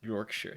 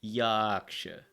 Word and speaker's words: Yorkshire: it's not even Yorkshire you don't even pronounce it Yorkshire you pronounce it yaksha that's funny like the